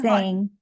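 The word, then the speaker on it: Seng: It's Sang.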